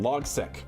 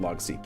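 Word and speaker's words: Logseq: Logsec or Logseek? Yeah, like logical sequence is what it stands for, but it's pronounced Logseek.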